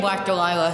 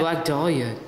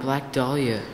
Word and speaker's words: Black Dahlia: Especially in Black Delilah. He's the best. Yeah. It's Black Dahlia. It's Delilah. Black Dahlia.